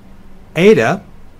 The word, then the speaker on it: eta: the Z in days ADA is a long sound like the ey in obey theta is a single